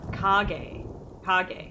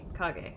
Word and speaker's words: Kage: I want to do shadow, but I don't know how to pronounce it. Kage. Kage.